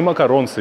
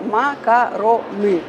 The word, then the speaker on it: макароны: макароны как по флотски Теперь только так не макаронсы не макарони нени макароны ещё как-нибудь макарон и макароны Ну что ж теперь как минимум мы знаем что можно и нужно произносить именно макароны Отлично я на самом